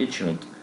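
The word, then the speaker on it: H₀: فرض الصفري اللي هو اش نود بيتكتب ا زي ما انتم شايفين كده ولكن هو ينطق اش نود تمام الرن اللي هو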